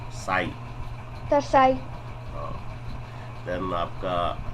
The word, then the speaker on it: psi: साई। साई। Okay, P silent रहता है।